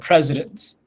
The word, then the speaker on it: precedents: to know this word presidents it's pronounced like president of the united states but it's spelled differently with a ce so